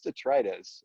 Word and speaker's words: detritus: detritus, and I'm like, "Excuse me, detritus? Is this is this the god of trash?" And they're all Right? looking at me. I'm like, "What do you mean? Like that's not how you pronounce it, detritus?" And they're like, "No, it's detritus." And I look it up, and they were right.